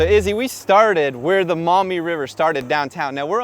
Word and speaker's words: Maumee: with it yeah so the name mommy came from the Miami Tribe actually first but the French couldn't pronounce Miami so it ended up becoming Maumee right so let's unpack this